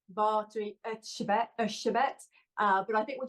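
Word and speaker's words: Erzsébet: about Elizabeth bori so in Hungarian that would be V shabet uh but I think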